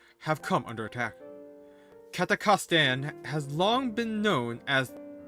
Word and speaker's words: Kazakhstan: Kazakhstan. Man, that's so much easier. What the hell was I doing? I think I had an extra syllable.